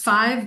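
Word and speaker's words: Type V: Within the title, it's pronounced 5 because these refer to Roman numerals and categories within the building codes that are designated in order to categorize materials according to combustibility.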